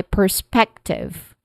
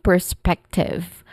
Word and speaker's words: perspective: has also awa sound and then spec p which is the stressed part of the word perspective and lastly tiv which has a short e vowel sound. Okay. So this is from my perspective.